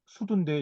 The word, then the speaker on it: 수두: 근데 제가 우리가 옛날에 역사책에서 배운 그 소도 이거 이제 원래 발음은 수두인데 이 수두가 그 전파되는 과정 이거를 이제 신처가 여기서 설명을 했는데요.